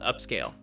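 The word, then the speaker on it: Upscayl: The software we are going to use is called Upscale, spelled with YL at the end.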